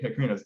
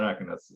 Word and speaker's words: Acronos: Acronos, not Acronos.